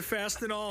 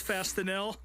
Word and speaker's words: Fastenal: He also referred to Fastenal as Fastenel, which that really just made my fingernails itch.